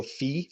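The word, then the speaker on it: phi: people might say the golden ratio fee or five people pronounce it differently that's one of the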